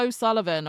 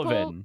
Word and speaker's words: O'Sullivan: Wait, How the fuck do I pronounce their name? Oh, that's Dara O'Sullivan, okay? I just caught him with Opal. O'Sullivan.